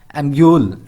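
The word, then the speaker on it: amulet: एम्यूल, एम्यूल का क्या मीनिंग है, यहाँ पे टी साइलेंट है, इसी का पूरा मीनिंग दिया गया है, हेयर अ हीलिंग ऑर्नामेंट।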